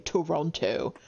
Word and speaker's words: Toronto: Yeah, if you pronounce all of the letters in Toronto, you're not doing it right. Especially the second T.